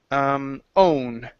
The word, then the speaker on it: own: Next one here is own.